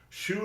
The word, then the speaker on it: xu: A shoe circle. Exactly. Shoe is spelled xu. It's pronounced like your shoe, but it's it's xu.